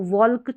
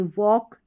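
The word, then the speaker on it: walk: इन spellings में भी इसको वॉल्क, चौल्क, cooled, should, calm, palm या बाल्म नहीं पढ़ेंगे। इन सभी में L साइलेंट रखेंगे। वॉक, चौक, कुड, शुड, काम, पाम, बाम, इस तरीके से आपको पढ़ना है।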